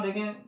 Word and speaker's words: the: THE तो हम लिख रहे हैं, लेकिन जब हम इसका प्रोनाउंसिएशन करेंगे तो वो क्या होगा? दी होगा। दी इंडियन ओशन।